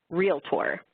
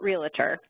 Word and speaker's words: realtor: So first of all, that very first bullet, that word is pronounced realtor. It's not realtor. And I do my best to say it the right way, though I still do get it wrong on occasion.